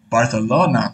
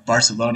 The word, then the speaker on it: Barcelona: he's actually based in barcalona or Barcelona you might pronounce in English in um and he's